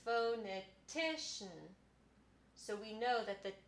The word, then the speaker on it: phonetician: the bottom so what these two marks tell us is ti is the most important syllable and fo is the second most important so it would be phonetician and that tells us how to pronounce the word something i want to